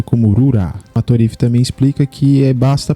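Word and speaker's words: ルーラ: Em japonês é pronunciado como Rura.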